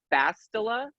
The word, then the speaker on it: Bastila: My name, Bastila, is actually pronounced Bastila.